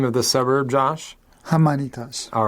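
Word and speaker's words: Jaimanitas: Hamanitas.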